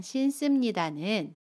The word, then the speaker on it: 신습니다: 신자에 습니다가 결합한 신습니다는 신습니다 라고 발음해요. 받침 니은은 그대로 발음하고요. 습은 씀으로 발음합니다. 신습니다.